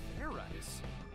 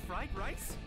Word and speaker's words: Fairize: Do it again, and this time make sure you pronounce the Z.